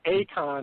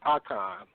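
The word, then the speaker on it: Akan: And then it's not Akon, it's Akon. That's the folks in Ghana.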